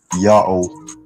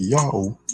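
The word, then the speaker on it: Ιαω: was followed by Omega, it produces its own natural glottal stop between A sound and an O sound. So you don't need to write any divider to tell the reader it's pronounced like A, O.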